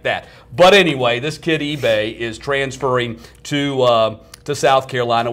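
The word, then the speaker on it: Ibe: Kid's name is J.T. eBay. That's I-B-E. eBay.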